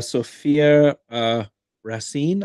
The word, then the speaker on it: Sophia Racine: Sophia Racine, I think is how you say that name. Yep.